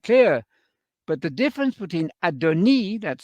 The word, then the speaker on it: adoni: that you understand that adoni that's the way you pronounce it in Hebrew it has a letter I at the end adoni which goes no less